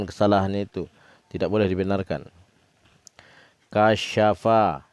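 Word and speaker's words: كَشَفَ: Kasyafa, ini SYA, sya, bukan TSA. Jadi kalau orang baca kasapa, nah itu dia jadi sin, bukan jadi shin. Ini huruf sin, 3 lengkungannya ke atas. Jadi membacanya itu boleh pelan. Kasyafa. Ulang lagi. Kasyafa. Jadi harus terdengar syanya itu.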